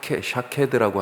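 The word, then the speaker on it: שָׁקֵד: 살구나무가 발음이 비슷하다. 그렇죠? 예. 살구나무가 샤케드라고 하는 단어예요.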